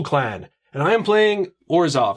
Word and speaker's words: Orzhov: And I am playing Orzhov. Now, may also be pronounced Orzhov, which, however you want to pronounce it, that's cool with me.